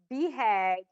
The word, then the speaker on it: BHAG: And so the big, hairy, audacious goal is, it's BHAG is how you say the acronym, but a BHAG is something that technology companies really embrace.